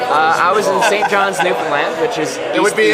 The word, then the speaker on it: Newfoundland: So it's spelled like Newfoundland, but you don't say Newfoundland. You say Newfoundland. Okay, we say Newfoundland. Yeah, well, I'm used to it Newfoundland. It's almost more like Finland than Foundland.